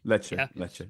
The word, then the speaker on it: Lecce: Is it Lecce? Is that how we pronounce it? Lecce.